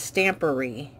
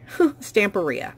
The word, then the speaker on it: Stamperia: I think it's actually, the way it looks is pronounced Stampery, but everybody calls it Stamperia. Oh, it is. That's supposed to be an A. Stamperia.